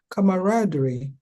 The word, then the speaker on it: camaraderie: The word of the day pronounced in British English is camaraderie.